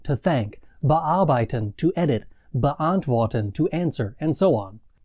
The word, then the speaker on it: beantworten: The only other thing that's special about inseparable prefixes is that the emphasis in the pronunciation is on the main part of the verb and not the prefixes.